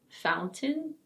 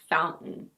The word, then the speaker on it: fountain: A word that has almost the same pronunciation is: fountain. So in British English you can either say: fountain. Fountain. Or: fountain. Fountain. In American English it's also: fountain. Fountain. But lots of people say "foun-en". "Foun-en".